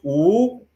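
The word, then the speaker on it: 五: five more minutes and in Chinese the number five is pronounced oo she would say come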